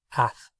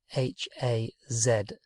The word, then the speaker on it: haz: It gets cut right down, and do or make in the imperative is haz, H-A-Z.